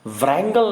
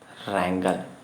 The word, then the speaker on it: wrangle: चलिए, रैंगल, व्रैंगल नहीं है साहब, रैंगल, ये रैंगल। ठीक, व्रैंगल ना होकर रैंगल, जिसमें W क्या है आपका यहाँ पे? साइलेंट है।